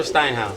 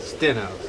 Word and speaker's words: Stenhouse: Is it Stenhouse or Steinhaus? Stenhouse. It's Stenhouse.